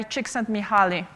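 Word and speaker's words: Csikszentmihalyi: in history we also have a flow by chicks and muhuali that's how you pronounce that weird name by the way it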